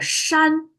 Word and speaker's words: 山: Mountains, Chinese pronounce as a shan. Shan, again, is flat tone.